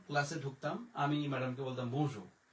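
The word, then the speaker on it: bonjour: তখন যেমন আমাকে দেখালো বনজুর জুর, মানে দাঁতে চিবি লাগাইয়া বলতে হবে বনজুর, না হলে এই জুর ঠিক মতো উচ্চারণটা হয় না।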